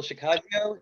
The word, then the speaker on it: Shikashio: name you did it's the easiest way to remember is pistachio you know rhymes with pistachio that's everybody remembers it